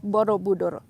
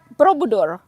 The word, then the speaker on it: Borobudur: know the temple of borobudur you don't say probador you say borrow budo try to separate the what they call african consonant borobudur okay not borobudur uh